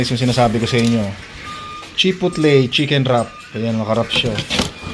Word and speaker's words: chipotle: chicken wrap ah chip chipley chipo ba yun chipotle Hindi ko alam kung paano i-pronounce yun eh chipotle chicken wrap yan aan oh mga Papakita ko